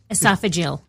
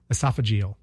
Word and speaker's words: esophageal: did he died of esophagal cancer esophagal esophageal he I think that's the correct pronunciation yeah it was esophageal